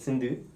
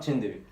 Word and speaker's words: Sindhu: It's pronounced Sindhu, isn't it? Not Chiinthu. People call me Sindhu and Chiinthu. Yeah, I called you that last time and someone said Sindhu and I was like, alright. Yeah, I mean we spell it with a C and then Tamil it says C, so...